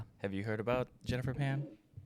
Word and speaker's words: Pan: gonna talk about Jennifer fam. Jennifer fam. I feel like I've you probably heard or I'm not saying it right. I think it's Pan. Jennifer Pan. Sorry.